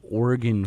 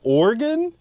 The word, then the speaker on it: Oregon: the hell is there an ad for one Oregon football player like Oregon I don't even think